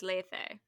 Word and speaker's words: Lethe: Oh, it's 2 long E's, so it's Lethe. Lethe.